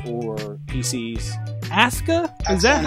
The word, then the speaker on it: Asuka: Wii U or PCS ASA is that how we're saying it WWE is doing one thing right because Japanese pronunciation you never pronounce the you okay is Asa that's Asuka yeah I can't wait until